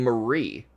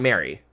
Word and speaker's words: Marie: Oh, you're saying Marie, not Mary. Marie. Maury. Well, it's definitely not Maury.